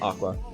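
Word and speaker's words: Aqours: nine-member school idol group ah cores 40 pronounced aqua at o'donnell post she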